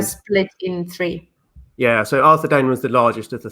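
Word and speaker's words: Arthedain: Arthur Dane. Arthur Dane. I pronounce it Arthur Dine. Arthur Dine. Yeah, I just which I think would be right, because it's like Dunedain.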